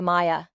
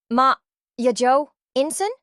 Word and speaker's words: Maya: Green began roll call, she stumbled over Maya's name. "Ya Inson?" she asked slowly, mispronouncing it.